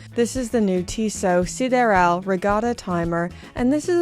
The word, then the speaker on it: Sideral: I believe this is meant to be pronounced Sideral, and while I know